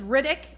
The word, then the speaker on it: Riddick: unbelievable well you guys my last name is Riddick and it's spelled just like it sounds rid dick and that's exactly what